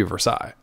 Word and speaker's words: Versailles: it doesn't count but that's not how pittsburghers say it it's north ver sales in Pittsburgh it should be Versailles but it's versales so idiots yeah mainly